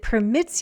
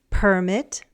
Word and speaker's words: permit: The stress shifted. The noun and the verb have different word stress patterns. Permit, permit.